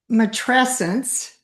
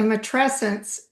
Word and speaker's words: matrescence: Matresence. Matress. Not a matressence. It kind of rhymes with adolescence.